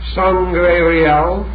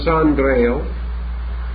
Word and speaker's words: Sangreal: And the word Sangreil itself has 2 possible pronunciations which are very interesting. Sangreal, the blood of the king, and Sangreil, the holy cup.